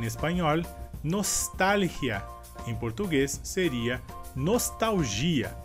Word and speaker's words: nostalgia: Em português seria nostalgia. E a diferença seria que nessa palavra em espanhol a sílaba forte seria tal, e em português a sílaba forte seria gi.